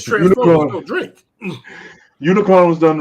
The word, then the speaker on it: Unicron: Omnicron. No. Is that how you say his name? No, it's Unicron. Unicron.